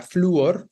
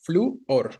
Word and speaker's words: flúor: Es un hiato específicamente, pero de vocal cerrada tónica, ¿no? La U es la vocal cerrada tónica, que es grave, evidentemente la palabra fluor, fluor, ¿no? Tenemos dos sílabas específicamente. Entonces, claro, llevas tilde sobre la U, acento sobre la U.